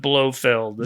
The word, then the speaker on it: Blofeld: It's the Swiss pronunciation of Blofeld. Yes.